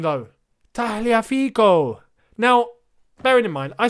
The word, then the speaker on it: Tagliafico: felt quite offended because he's italian he's it's taliafico it's like tagliatelli you don't say tagliatella you